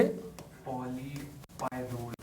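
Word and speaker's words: polypyrrole: उसके बाद organic polymers है कुछ नाम बोलिए पॉली पायरो आता ऑर्गेनिक पॉलीमर्स में पहरा नाम बोलिए पॉली पायरो पॉली पायरो तो स्पेलिंग हुआ पॉली पीओ एल वाई पाय डबल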